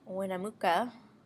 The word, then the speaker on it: Winnemucca: The population of Winnemucca, that's how you say it, Nevada, can be modeled by this equation, where T is the number of years since 1990.